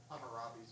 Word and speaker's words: Hammurabi: Hammurabi's, I believe. Hammurabi's. Thank you, Paul. Paul is one of our new people here who is helping me with my interpretation of hard words. Hammurabi's law.